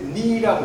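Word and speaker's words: knee: 그 다음에 니라고 해야 돼. 니. 무릎이라는 단어. 그대로 K가 발음이 그래서 이제 영어의 그 팔품사와 문장의 오형식인데 영어의 팔품사가 이런 게 있습니다.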